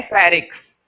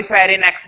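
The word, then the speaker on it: pharynx: तो देखो इसके अंदर जो एन मैंने बोला नहीं है, एन हमारा क्या होता है? साइलेंट, केवल इसको पढ़ते हैं फेरिक्स। एन नहीं होता, कभी फेरिनेक्स बोलो। फेरिनेक्स नहीं बोला जाता है, सिर्फ और सिर्फ क्या बोला जाता है? फेरिक्स।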